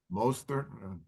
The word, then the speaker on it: Mostert: Who's going to have more, Breece Hall or Raheem Mostert? And by the way, how do you pronounce his name, Ralph? Mostert.